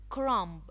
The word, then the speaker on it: crumb: when the dog knows his boat it's born crumb crumb it's all it's left some left over